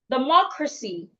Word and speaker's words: democracy: So if I count from the end, from CY, I need to stress the third syllable from the end. That is the MO. So the word should be rightly pronounced democracy. Democracy. It's not democracy or democracy. It's not democracy. It is not mo, it is a more. The O that's the O there sounds O. Democracy. Democracy.